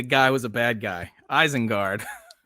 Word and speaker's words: Isengard: Isengard. Not spelled right, but you pronounced it right, so I will take that.